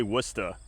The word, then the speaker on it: Worcester: do have to say this town's name is spelled in a way that I shouldn't be able to say it. But since we're next to Boston, everyone has a Boston accent. I can say Worcester.